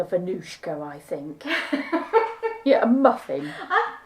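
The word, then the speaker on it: vánočka: Vanushka, it sounds like But a you dance. pronounce it. It does, Just doesn't go it? do the Vanushka. But it's pronounced vanushka.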